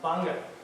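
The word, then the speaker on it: Gbarnga: So as you see how it's spelled, it's pronounced Banga. So the Gabangas, I know I've heard it many times, it's Banga.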